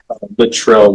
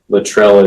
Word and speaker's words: Luttrell: It's spelled a little unusual. All right, yes. Rebecca. Luttrell is Luttrell. I'm sorry, L-U-T-T. Luttrell.